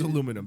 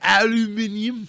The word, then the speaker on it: aluminum: no it's first of it's aluminum don't pronounce it that way is it aluminium don't don't do that it bothers me does it yeah because